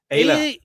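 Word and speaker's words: Aayla: A Ayah.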